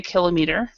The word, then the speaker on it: kilometer: what the situation is our stress is on this o we're stressing the O